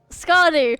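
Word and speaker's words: Skadi: Scotty, that's how you say her name.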